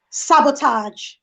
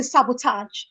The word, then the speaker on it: sabotage: Sabotage. Nigerians will say sabotage. It's actually sabotage. It's a j, not a j.